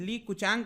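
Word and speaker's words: Li Keqiang: आप देख सकते हो जो वहां के प्रीमियर हैं ली कुचैंग, आई डोंट नो लाइक ली क्यूचैंग लिखा हुआ है लेकिन ली कुचैंग समथिंग लाइक दिस प्रोनाउंस करते हैं।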